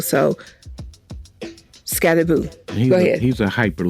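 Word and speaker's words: Skattebo: upset with these commentators pronouncing his name Scatterboo because there's only one O. So then I had to look it up, and Scatterboo said that you pronounce his name as Scatterboo, not Scatterboo.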